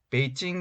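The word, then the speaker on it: 北京: 펑 이라는 지명 입니다 뒤 논 남경 중국어 발음으로 난 찡 이라고 하는 지역입니다 이 논 북경 베이징 이라고 하는 지역입니다 먼저 기본적으로 장안 소 아니라고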